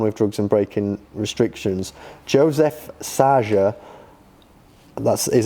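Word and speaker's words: József Szájer: Joseph Saja, that is how it's pronounced, George, before you ask, a high-profile Hungarian politician, has resigned following the event.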